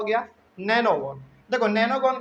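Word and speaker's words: nonagon: 7 number है हमारा नोनागोन। 6 हो गया। 7, लेकिन हम लोग इसका उच्चारण जो है ना नैनोगोन ही करते हैं। खैर जो बुक में लिखा हुआ वही लिख लेते हैं, NONA, नोनागोन।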